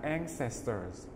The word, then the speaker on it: ancestors: Chú ý hai từ graves và ancestors. Graves, graves, em chú ý âm cuối, graves, graves, graves. Ancestors, trọng âm ở ngay âm đầu tiên, ancestors, ancestors là tổ tiên, dead ancestors, tổ tiên đã mất.